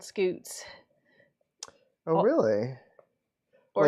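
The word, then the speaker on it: scutes: We're all just saying scoots. Scoots. The kind of scaling you see on chicken toes is called scoots. Oh, really? Or Like scuts.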